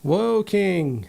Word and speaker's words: Woking: chocolates from my advent calendars and anthony it's pronounced walking it's walking woking whoa king whoa did i say did i